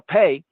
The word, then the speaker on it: Pe: 8 verses down, we have Peh. Now, Peh Pe or pay can also be pronounced as fe or fe. Pe or fe.